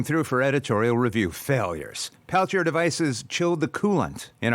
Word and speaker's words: Peltier: Peltier is an anglicized pronunciation of the original Peltier.